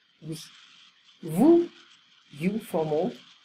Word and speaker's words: vous: Vous, you, formal. So I don't pronounce the S.